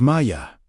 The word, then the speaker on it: Maya: In this specific breath, Maya, pronounced Maya, means waters in its Aramaic form.